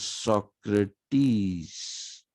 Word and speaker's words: Socrates: In Greek, the es is always pronounced as is. So it is Socrates.